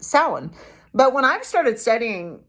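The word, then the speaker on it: Samhain: hay s m ha a i n is pronounced Sal but when I've started studying um pagan philosophy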